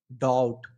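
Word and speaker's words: doubt: लेकिन इसको अगर हम सही पढ़ते हैं, क्योंकि बिना साइलेंट के डॉप्ट पढ़ रहे हैं जो गलत है। यदि अगर हम इसको साइलेंट लेटर अगर इसमें यूज करते हैं, मतलब बी को अगर हम साइलेंट करते हैं, तो क्या पढ़ेंगे इसको, डाउट, क्या चीज, डाउट।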